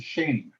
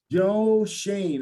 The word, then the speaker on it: Schoen: pronounce his name correctly is shane really with the oe that's the way he pronounces it yup how do you say it shane like shane mcpherson yeah joe shane okay so joe shane